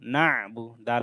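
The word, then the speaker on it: نَعْبُدُ: ইয়াকা, নুন আইন জবর না, বা পেশ বু, না বু, দাল পেশ দু, না বুদু, আইনটা গলার মধ্যভাগ থেকে ভালোভাবে উচ্চারণ করতে হবে।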